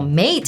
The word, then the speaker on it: MATE: And XFCE and Mate, it's pronounced mate.